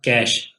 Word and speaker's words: cache: effect करती है अ कैश pronounced as कैश कैसे है इसको हम